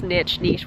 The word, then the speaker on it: niche: Like, no, some of you guys were saying that I pronounced niche wrong. It's niche, what the fuck.